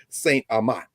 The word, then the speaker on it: St. Amant: our brother Malcolm Reed, St. Amant. Anyway, I say it right. Did I say it right? You got it.